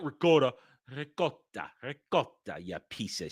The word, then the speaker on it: ricotta: Having a cappuccino afternoon or calling ricotta ricotta. Calling ricotta. No, it's ricotta. Ricotta. Gotta roll the R, you little bitch. You gotta roll the R. Ricotta. Not ricotta, not ricotta.